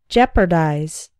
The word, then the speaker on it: jeopardize: put it in danger note that the EO is simply pronounced like the e in set jeopardize for example this misunderstanding